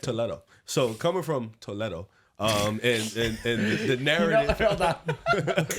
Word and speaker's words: Toledo: When I was in Spain and I heard Toledo, that's how they say it over there. Fire. I'll be honest, that sounds way better than how we say it.